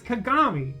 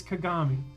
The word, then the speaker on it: Kagami: It's Kagami. Is it really that hard, guys? It's three syllables. It's six letters. It's Kagami.